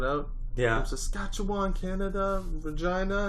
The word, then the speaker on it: Regina: From Saskatchewan, Canada, Regina, and that's why it rhymes with fun.